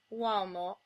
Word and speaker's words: uomo: Similarly, if a U comes before another vowel, it becomes the glide w, as in uomo.